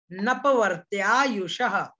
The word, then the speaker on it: नपवर्त्यायुषः: ये जो एस बना हुआ है यहाँ पर इसका उच्चारण नहीं करना है, मैंने कल बताया था ये अवग्रह का चिन्ह है, उच्चारण इसका नहीं किया जाता, ये केवल दिखाने के